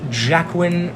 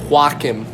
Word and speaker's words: Joaquin: the famed classic hit gamer mecca Joker starring Joaquin Phoenix club direct segment it's actually pronounced Jack win Phoenix I've always pronounced working walk him okay but it was also directed by Todd